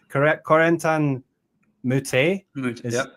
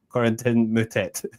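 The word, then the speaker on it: Corentin Moutet: So like Corentan Moute, that's his actually how his name is pronounced. But then you go on the ADP site and he's just saying Corentin mut or something like really. Okay. And so I'm like that's definitely not how you pronounce it in French, right?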